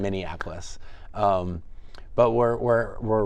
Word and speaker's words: Minneapolis: time in Minneapolis so I've learned how to say it correctly I think right I used to say miniapolis yeah yeah just Minneapolis um but we're we're